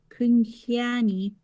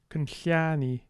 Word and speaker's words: Kunhiani: It was Kunhiani. Kunhiani. There seems to be a bit of a pitch accent to this.